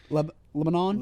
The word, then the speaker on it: Lebanon: Everybody forgets there's actual vowels. Lebanon. Lebanon.